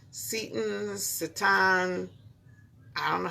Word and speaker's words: seitan: So we're doing this No Meat May, and there's this stuff called seitan. I don't know how to pronounce it.